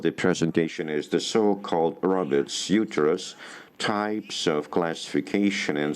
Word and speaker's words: Robert: First of all, as you can see, it's Robert's uterine, and basically it should be pronounced as Robert because he was French, and you can see some of the articles in French here.